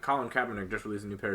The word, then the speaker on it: Kaepernick: It's Kaepernick. Like it's spelled with a K, but it's pronounced with a C. So it's Kaepernick. Because I've always said Kaepernick.